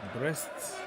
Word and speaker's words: Brest: it's very fun because breasts sounds like you're talking about some women part of the body but no that is